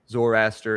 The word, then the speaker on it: Zoroaster: Zoroaster. Yep. Yeah. Zoroaster and like, and Jen probably knows, I'm sure, the Kabbalah.